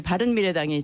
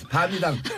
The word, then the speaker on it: 바른미래당: 우리 대한민국의 미래, 국민 여러분의 미래, 우리 바른미래당이 책임지겠습니다. 밤이당. 발음 잘하세요. 밤이당 돼요 잘못하면. 아니 뭐 글자도 몇 개 안 되는데 풀로 불러주세요.